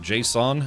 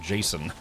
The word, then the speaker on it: JSON: Some people pronounced it JSON and some people pronounced it Jason.